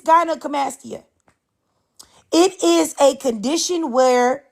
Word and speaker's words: gynecomastia: It's gynecomastia.